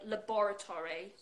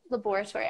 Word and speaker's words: laboratory: right one yeah okay there are actually two ways in British English I would say laboratory uh laboratory are you talking about laboratory